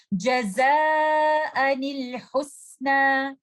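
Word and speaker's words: جزاء الحسنى: We have to give kasra to the noon that is hidden in tanween and we will join that noon with letter lam and we will recite this word like this. Jaza'anil husna.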